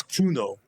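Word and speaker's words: Cuno: Kuno like a K. Well, no, it's a C, but you spell it pronounce it like a K, so it's Kuno.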